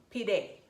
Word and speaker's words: pide: not a it's spelled I guess it's like the Spanish e p day P day so I need to